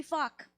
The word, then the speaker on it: Phúc: In Vietnamese, you pronounce it Phúc. In English, it could be fuck, Phuc.